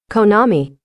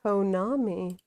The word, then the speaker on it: Konami: Konami. Konami. Okay. Konami.